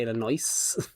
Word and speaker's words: Illinois: Illinois is another one. Like uh there's an S on it, so it's actually Illinois.